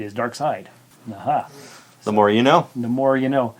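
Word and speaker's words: Darkseid: DC in Germany is pronounced as a long i as in pie fly die and cry so dark seed is dark side Naha the more you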